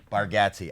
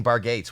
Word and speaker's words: Bargatze: vargati right right yeah that's how we said bargatzi i was saying bar gates when i was loading do people say it wrong all the time oh they say yeah i honestly think our family says it wrong so uh oh you're